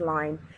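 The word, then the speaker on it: ligne: got 19 mm and something called line it's pronounced line it's a French word and it actually is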